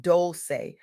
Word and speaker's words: Dolce: I'm your host, Dolce, pronounced doulce, like sweet softness whispered in French, and I'm your guide